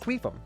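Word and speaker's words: Qufim: Yeah, it's it's not my fault that that's how it's pronounced. It's It's pronounced queum.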